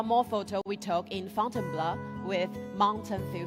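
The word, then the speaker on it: Fontainebleau: So after Paris, Paul took me just outside the city to a forest park for called Fountain Blur. This is how he taught me to pronounce to try out our mountain filter.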